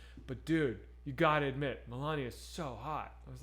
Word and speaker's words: Melania: It's funny that you mispronounce words that have been said billions of times in the last 4 years. Like, you know it's Melania.